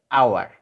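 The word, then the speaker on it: hour: ঠিক আছে, এখানে দেখো এইচ আওয়ার এই শব্দটা এখানে এইচ এর উচ্চারণটা হয় না, হাওয়ার হয় না, এটার উচ্চারণ হচ্ছে আওয়ার, দ্যাটস ওয়াই আয়ের মতো উচ্চারিত হয়েছে, এই জন্য অ্যান বসেছে।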